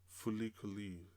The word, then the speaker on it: FLCL: And yeah, this anime definitely reminds me a little bit of this other anime called Fulikuli, which is spelled FLCL.